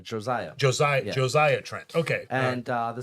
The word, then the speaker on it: Josiah: Oh, I said Hosea. I hope I'm pronouncing it right. Josiah.